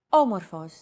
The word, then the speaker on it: Όμορφος: Did you notice the accent mark above the first letter? There is only one type of accent mark in modern Greek, the acute accent. It adds stress to a syllable.